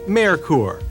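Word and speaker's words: Merkur: red white and blue it's pronounced mayor core that's German for mercury naturally Germany is the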